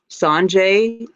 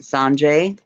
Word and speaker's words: Sonja: Okay, Sanjay is, it take the Y off, and it's Sanja. No, it's Sonja, like Sonia, but she pronounces it Sanjay.